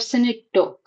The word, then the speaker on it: synecdoche: I'll just write it in Hindi. Synecdoche. This is how you pronounce it.